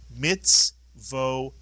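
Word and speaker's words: מצותי: And this word is pronounced mitzvotai.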